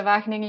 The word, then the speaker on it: Wageningen: And yes, it's a difficult name of the university to pronounce for not Dutch-speaking people. It's a Wageningen University and Research, small town in the central part of the Netherlands.